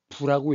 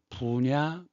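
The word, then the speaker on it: 不: 부냐 불이냐. 디귿과지 앞에서는 부. 나머지는 불.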